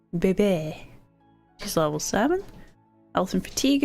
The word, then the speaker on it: Bebe: is her glass and yes it's spelled BB baby just level seven elephant